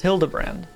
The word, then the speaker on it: Hildebrand: It's pronounced Hildebrand.